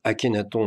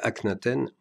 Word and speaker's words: Akhenaton: à l'opéra de nice je prononce à la française akhenaton même si la production a préféré conserver le titre original ac nate henn afin d'éviter toute confusion avec le rappeur portant ce nom comme pseudonyme les représentations publiques en